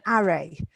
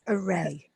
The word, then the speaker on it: array: the the word array you missed the pronunciation little because you put stress on the first syllable so you said array but it's array and also this one